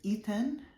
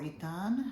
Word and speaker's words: Ethan: his name was there's Ethan or itan however you want to say it like which means